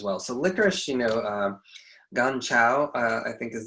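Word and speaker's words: 甘草: So licorice, you know, ganchao, I think is the Chinese way to pronounce it.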